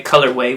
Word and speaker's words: Colorweh: Now, way, of course, is the way we spell it. Well, there's the way Colorweh, which is the word of the combination of the sneaker. But then way, we spelled it like Yahweh, which is Yahweh